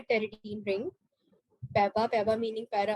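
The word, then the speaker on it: pteridine: Number one, टेरिडीन ring. टेरिडीन जो है बोलते हैं टेरिडीना, लेके शुरू पी आता है, पी इज साइलेंट।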